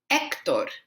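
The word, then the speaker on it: Héctor: And here, remember, our H is silent, so it's Hector, Hector, not Hector, Hector, Hector.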